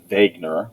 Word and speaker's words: Wegener: but in 1911 a german scientist named alfred wegener and that is how you pronounce it wagner was browsing through some scientific papers in the